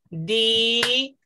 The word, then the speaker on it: diáfanas: Di-a-fa-nas. Hay cuatro sílabas.